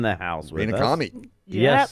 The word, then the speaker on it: Camhi: Camhi. Yes. The H is silent.